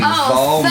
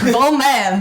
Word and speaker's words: Vollman: People do say my last name wrong. Actually, it's a Texas exclusive thing because people have Southern accents. My last name is German, so the O sound isn't like as common. So Vollman is very hard for people.